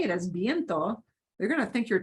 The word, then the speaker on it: viento: There is a word viento, viento, but notice it's not V-E-I, it's V-I-E, so it's pronounced viento, means Viento.